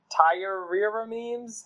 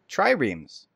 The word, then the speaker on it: triremes: So they built a giant fleet of, and I have no idea how to pronounce this word, I bet you do. Tyreremes? Tyreremes? How the heck do you say it? Tyreremes? Triremes.